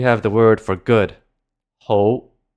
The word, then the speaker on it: 好: Next, we have the word for good, 好, 好. This is our high rising tone.